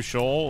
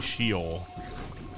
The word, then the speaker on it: Sheol: I don't have to go through Shoal, like, I'm happy. Or Sheol. I think it's actually Sheol. Shelob, but Sheol.